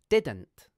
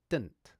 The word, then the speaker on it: didn't: This pronunciation also has two syllables, but now the second d consonant has moved from the beginning of the second syllable to the end of the first syllable, and the second syllable is just an nt sound.